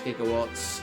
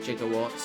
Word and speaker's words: gigawatts: accurate like how they how they pronounce gigawatts they call it jigawatts I think the guy